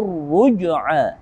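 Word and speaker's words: الرُّجْعَىٰ: Maka alif lamnya tidak kita baca. Langsung kita menuju ra yang bertasydid. Rabbika ruj'a.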